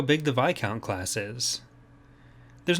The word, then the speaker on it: Viscount: The Viscount, and yes, it is pronounced that way, not Viscount, was introduced as a purpose-built New Republic supership developed by the Mon Calamari.